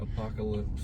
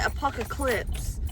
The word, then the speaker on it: apocalypse: Apocalypse. Apocalypse. It's apocalypse, but Caitlyn calls it apocalipse.